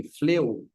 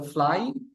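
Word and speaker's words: flew: এই দেখেন এইখানে একটা গুরুত্বপূর্ণ ব্যাপার, এটা আমরা নর্মালি কি বলি, ফ্লেউ, এ ফ্লো, সো ফ্লাই, ফ্লাই থেকে আমরা বলি ফ্লেউ, এরপরে কিছু আসে, এটা আসলে উচ্চারণটা ফ্লেউ না, এটা হচ্ছে ফ্লু।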